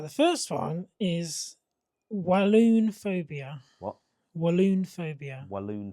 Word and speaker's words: Walloon: Right, the first one is walloon phobia. What? Walloon phobia. Walloon phobia. Like balloon, but walloon.